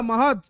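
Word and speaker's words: Mahad: 1927 আম্বেদকর মাহাত সত্যাগ্রহ মাহার দা ডি আছে বাট মাহার ওকে বসিনারা উচ্চারণ মাহার বা মাহাদ সত্যাগ্রহ করবেন এবং এস্টাবলিশ কি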